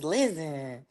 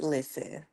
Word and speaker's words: Lizzen: way, because they like, I thought your name was Lizzen. I'm like, dang, I probably shouldn't put the Z's in there, but it's pronounced listen.